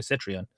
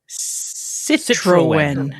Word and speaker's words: Citroën: with uh the road trip for uh Andre Citran. Citroen. How do you pronounce this name? Do it slow for us. Citroen.